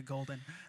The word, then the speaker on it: Goldn: should have stuck to Golden well when I first started making music My Name literally was just golden like g o l d n spelled like my government name but whenever I told